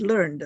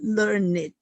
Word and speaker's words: learned: learn it or learned the word learned is pronounced as learned however you sometimes it's called learn it when we use this to describe a person